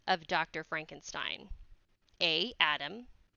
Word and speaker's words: Frankenstein: doctor and um he refuses to be called Frankenstein his he says his name is pronounced Frankenstein and so yes well the first name of